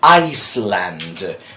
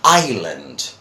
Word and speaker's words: island: people would be surprised we don't pronounce the S there so we say is Island and Island no yes I know